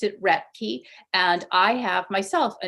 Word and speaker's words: Roethke: it differently from how he did um he pronounced it Rey and I have myself a name that has